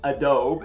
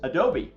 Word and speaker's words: Adobe: So one name is Adobe, Adobe, but it's not pronounced Adobe, it's pronounced Adobe.